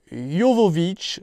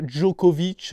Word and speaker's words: Jovovich: Et forcément, il est accompagné de la délicieuse Mila Jovovich, parce que je crois que ça se prononce comme ça, Jovovich, et pas Djokovic, hein, comme on pourrait le croire, qui incarnait, comment elle s'appelait dans Resident Evil?